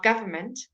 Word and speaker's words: government: fantastic word for you we leave the N out of the first end of government art office so where there's an N before an M you always leave out the N in pronunciation